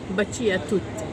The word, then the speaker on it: Baci a tutti: Adı böyle okunuyormuş. Baci a tutti.